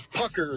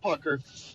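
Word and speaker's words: Puchyr: That's Pucker. It's pronounced Pucker.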